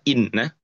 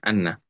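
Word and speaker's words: إنّ: ya lihat setelah Amama dibacanya Inna bukan Anna kemudian yang ketiga adalah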